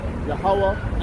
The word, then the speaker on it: Yahweh: Yahweh and Yahweh Shai, all right? That's what we got here. This is how you say he's writing his name in Hebrew.